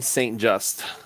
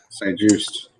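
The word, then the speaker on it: Benjamin St-Juste: Washington has selected Minnesota cornerback Benjamin St. Just. Is that how you say it, or is it Juiced? Juiced. St. Juiced.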